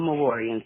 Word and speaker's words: Mejurian: You know, until now I pronounced the J when I would read it.